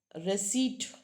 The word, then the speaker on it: receipt: Now next is that is receipt. Yeah that's a receipt. P is silent not received is receipt.